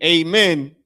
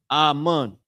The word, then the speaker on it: amen: So when people say amen, they're they're mispronouncing the word ammon or saying it in a uh saying it in what?